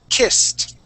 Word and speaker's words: kissed: rule number one okay the sounding of T kissed stopped watched okay that is the T sound all right so I